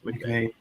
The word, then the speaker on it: McVay: I'm sure there was some version with him and McVay, or I don't know how he's pronounced that. McVay. It's McVay.